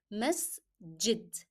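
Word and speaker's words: مسجد: Then pronounce jim as in jar. Masjid.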